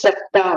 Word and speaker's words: Satta: I think It is Satta only. There's a double ta, na?